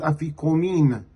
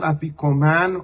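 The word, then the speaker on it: אפיקומן: The final portion of armasa is called afikomin not afikoman or afikomen.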